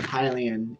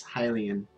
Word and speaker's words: Hylian: this is insane the the pronunciation of hylian is highly in like hyrule or like highly uh there is no feeling in the word hylian there's nothing to make heal heal does not come from any of those